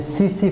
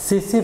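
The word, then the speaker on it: tsetse: और बेटे ये मैं एक ना यहाँ पे एक फ्लाई का नाम, ये बेसिकली इनसेक्ट्स में आती है, ये सीसी फ्लाई, इसमें टी साइलेंट है, सीसी फ्लाई है, ये बेसिकली उसमें होगा।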